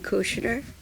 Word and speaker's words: Kusner: We have as our guest today Kusner. It sounds with an SH, but it's spelled with just the S.